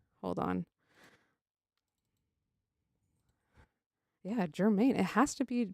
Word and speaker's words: Germaine: Yeah, Germaine. It has to be pronounced Germaine.